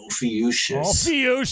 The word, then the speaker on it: Ophiuchus: The correct pronunciation: Constellation Ophiuchus. Ophiuchus. What did you say, Nate? I said it like a friggin' 3-year-old. I was like, Ophiuchus. You did not. It's a PH, dude.